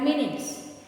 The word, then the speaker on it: minute: Now, another one is M-I-N-U-T-E, minute. On the watch, there are minutes. And another, we pronounce minute, very small, minute. Okay, same spelling, different means, different is, meaning is different.